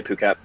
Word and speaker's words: Phuket: Some people pronounce it Phuket, but we say Phuket.